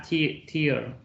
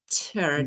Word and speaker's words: tear: Tear. This one, exactly the same word, but this is ter. This is pronounced as ter. So tear, ter.